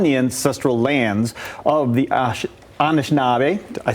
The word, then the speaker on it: Anishinaabe: You know, we sit on the ancestral lands of the Anishinaabe, I said it right, Yep.